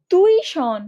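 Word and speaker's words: tuition: টিউশন অনেকে এরকম বানান করে, বাট না, টিউশন বানানটা তুইশন, নট টিউশন, তুইশন।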